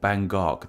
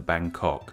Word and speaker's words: Bangkok: the city's proper pronunciation in English we put the G sound at the end of the first syllable hence why it sounds so rude but if this name were to be said in tight the G sound actually goes at the start of the second syllable more bangok than Bangkok still no one told me